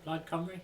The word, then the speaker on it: Plaid Cymru: Plaid Cymru.